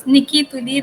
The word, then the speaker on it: Nicke Tuli: तो वो आएगी नहीं तो माय नेम इज निकी तुली टस एन आई सी के ई टी यू